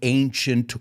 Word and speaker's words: ancient: seven wonders of the ancient world and I want you to pronounce that with me ancient like the word Asia or agent it starts with this a that sounds like an A so Asia is an